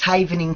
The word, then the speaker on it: Havening: learn about it and if I am i mispronouncing it what is Haven antenna cam I saying that correctly yes that's correct it's haven in technique ok the original event cave any method